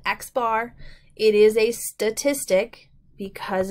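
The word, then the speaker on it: x̄: simple as xar so if we see the X with the bar on top we just call call it xar it is a statistic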